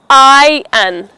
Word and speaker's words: iron: The R in the word is silent. So let's say it again. Iron.